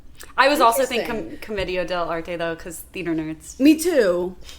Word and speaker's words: Commedia: it's Commedia because there's the accent on the I.